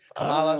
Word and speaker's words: Kamala: want it to come by Joe Biden passing away and Kamala.